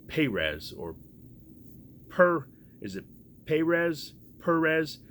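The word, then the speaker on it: Pérez: Perez, like I said, it's an emphasis on the first E, he says.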